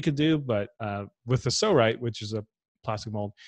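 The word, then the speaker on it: Psorite: mold that I discovered it's called a so right it's spelled PS o RI T E so what this does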